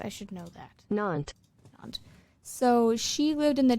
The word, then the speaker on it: Nantes: Nantes. Why do I just not remember that they don't say ESs? I should know that. Nantes.